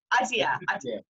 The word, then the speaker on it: Aditya: Aditya.